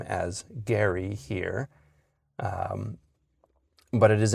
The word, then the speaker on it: Gerry: Uh so we've gone along with all of these authorities on the pronunciation of his name as Gary here.